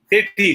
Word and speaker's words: Sethi: spell the word because i'm not sure s-e-t-h-i city city city yeah okay that's right yes um